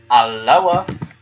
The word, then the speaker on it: Alloa: There's, pronouncing it correctly, Alloa.